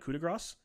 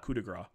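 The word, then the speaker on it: coup de grâce: The S is silent and coup de grace. No, everyone has told me that it's not, definitely not coup de grace. It is definitely coup de grace.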